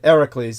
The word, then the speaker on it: Heracles: Heracles Hercules uh as it's anglicized the correct pronunciation is exactly as George said it hericles yes uh there's more uh eyewitness contemporary documentary